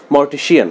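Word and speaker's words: mortician: মর্টিশিয়ান, যেহেতু মর্ট মানে হচ্ছে মৃত, এবং মর্টিশিয়ান আমরা জানি যে সাধারণত ব্যক্তি যে একটা কাজ করে তার শেষে সিয়ান ব্যবহার করা হয় বা শিয়ান ব্যবহার করা হয়। মর্টিশিয়ান সঠিক উচ্চারণ।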